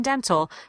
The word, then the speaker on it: dental: difficult to understand so n T in the middle of a word surrounded by two vowels as you see here in dental pronounce that T make sure it pops out dental floss nice now